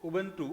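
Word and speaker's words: Ubuntu: ध्यान रखना उब उब उबंटू थोड़ा सा उच्चारण ध्यान रख उं आदत पड़ी हुई है तो इसका नाम है उबन ट उबन टू उबन टू ठीक है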